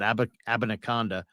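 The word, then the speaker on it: Abanikanda: this this Israel uh and that's how you pronounce it abinacanda is is a burner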